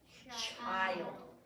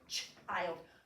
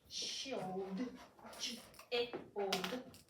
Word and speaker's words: child: to be short but when it has LD after it it's going to go like this I say it good I put a diagraph in front of I here's my word child child we don't say CH old we say okay that's